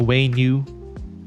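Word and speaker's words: Wenut: The Weenut is such a pain. I agree. Weenut, yes, Weenut. The Weenut. I think the appropriate pronunciation is the Waynu, but we call it the Weenut because it's more fun.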